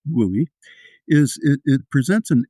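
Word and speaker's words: WUI: You know, the the wildland urban interface, often called the WOOI, pronounced WOOI, is it it presents an interesting challenge.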